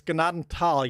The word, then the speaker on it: Gnadenthal: oh almost he said gnadenthal the way I always spell it with sound it out it's gnadenthal you you don't pronounce the th as a Thal G